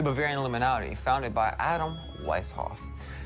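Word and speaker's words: Weishaupt: So we had the Bavarian Illuminati founded by Adam Weisshoff who was Adam Vishop or Wishop. It's it depends on how you want to pronounce it.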